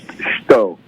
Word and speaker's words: Shito: The name of my style, it's spelled Shito, which pronounced Shito.